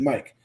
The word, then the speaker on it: Mick: in maryland his name his name is mike but he spells it like mick m-i-c-k but he pronounces it mike him his wife and